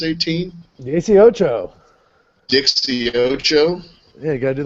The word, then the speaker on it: dieciocho: How do we pronounce 18? Dieciocho.